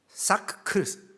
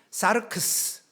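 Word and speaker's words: σάρξ: 헬라어로 보면요, 몸은 소마, 그리고 육체 사크크스, 발음이 안 돼요. 사르크스, 그 다음에 영 푸시케.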